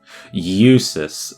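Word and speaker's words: Jusis: Eusus. Okay, so the J is silent. It's Eusus. Okay.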